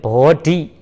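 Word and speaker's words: bodhi: 그러면 보증가 팔리어를 살펴보자면 정 위에다 살펴보자면 보증가는 보리 하나 하고 보리, 한국말 발음으로는 보리라고 한 것 같아요. 보리. 팔리어에는 보디, D, H, I, 보디라고 합니다. 보디.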